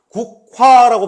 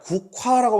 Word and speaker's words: 국화: 국화라고 발음하는 게 아니라 국화라고 발음하잖아요. 그렇죠? 그럼 우리가 어차피 히읗 발음할 때 바람 소리를 내야 한다면 미리 그냥 내버리면 훨씬 발음하기가 편하겠죠.